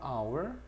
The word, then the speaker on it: hour: 그래서 우리가 보통 시간을 나타낼 때 할 때이 H는 소리가 안 나. 소리가 안 나기 때문에 소리가 나거든. 그래서 on hour.